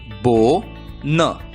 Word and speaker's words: BONE: है हमें ओ का नाम लेना है, आवाज नहीं नाम। ओ का नाम क्या है? नाम है ओ, और इसलिए बी की आवाज ब, ओ का नाम ओ, एन की आवाज न। शब्द का उच्चारण होगा बो न, बोन।